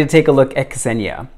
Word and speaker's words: Kesenia: So I've seen and heard it spelt and pronounced differently, but she told me that it was Kesenia, so I have forever remembered it as Kesenia.